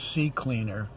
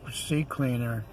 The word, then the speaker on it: CCleaner: Another program that I recommend highly is CCleaner. It's spelled C Cleaner, and then that's with a C, the third letter of the alphabet.